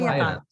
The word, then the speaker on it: Heirat: Heirat. Ah, okay. But it was so funny. We had like 6 or 7 comments from South America, and they all said heirat.